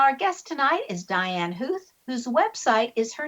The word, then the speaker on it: Huth: Even though it sounds like a hoof, it's not pronounced with o's in there.